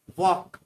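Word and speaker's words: walk: Fifth है वॉक, इसमें L silent रहता है।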